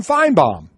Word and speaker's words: Finebaum: I don't understand why respect the man enough to call him fine bomb I'm gonna say this